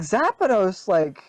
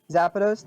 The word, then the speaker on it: Zapdos: See, but like Zapdos, was bonkers good. Zapdos, the electric bird. Gen Zapdos? 1? Yeah, you said Zapdos.